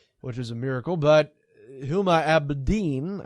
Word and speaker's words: Huma Abedin: But Huma Abedin, I believe, is how you pronounce her name.